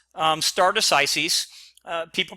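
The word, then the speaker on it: stare decisis: no we're going to stay here so it's pronounced um stardus Isis uh people pronounce it a few different ways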